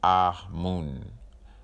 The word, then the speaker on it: Amun: Amun should be pronounced Ah-Mun.